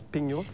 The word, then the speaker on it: pignouf: Pignouf, c'est un mot français qui est dans le dictionnaire, mais qui se prononce Pignouf.